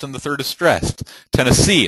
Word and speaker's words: Tennessee: the third is stressed Tennessee it's not Tennesse it's Tennessee New Orleans then you